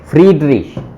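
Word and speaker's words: Friedrich: और ए वी एम एन एफ वी एफ वी फ्रीडरिश, फ्रेड नहीं freed, फ्रीडरिश, वो बड़ा ई बन जाता ना, आई ई।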